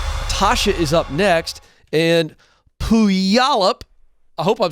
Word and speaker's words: Puyallup: way to say that pewallop puyallup did i say that better yeah you say that like the yao with a wha ah okay help you all up okay very good all